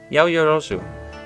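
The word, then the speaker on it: 八百万: what's that Yahoo yo it's written as 8 million and pronounce yo yo zoo it means an incredible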